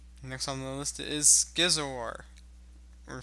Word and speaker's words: Scizor: Next on the list is Scizor. Or Scissor. Is it? I think it's pronounced Skizor. Skizor? Going back with Skizor.